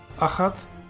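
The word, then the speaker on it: אחת: Aleph, patach, chet, patach, tav. You pronounce the whole word as achat, and it means one.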